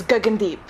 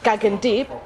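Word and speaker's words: Gagandeep: or stuff like that if you're gonna say my name is deep that's not the proper pronunciation of the name that's the English pronunciation of the name gagging deep but it's not going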